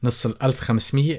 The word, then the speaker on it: نص الألف خمسمية: نص الألف خمسمية, and the glottal stop there does not get pronounced.